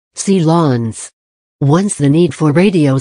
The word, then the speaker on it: silence: powered sealancia Lancia Lawns the word uses the French pronunciation of the word silence C Lawns once the need for